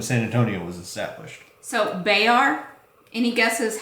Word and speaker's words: Bexar: And it's pronounced Bayar. Yep. Still the county of San Antonio. Yep. Bexar County.